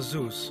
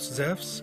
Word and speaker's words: Zeus: The name Zeus is actually a wrong English translation, because correctly he is called Zeus. In the Greek language, E and U is pronounced like a W in the word wisdom.